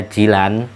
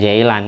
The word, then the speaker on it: Jilan: Abdul Qodir Jilan itu kelahiran daerah Jilan Bukan jailan Ini bener cuma orang Indonesia lebih fase lidahnya ngomong jahilan bila kelahirannya ada di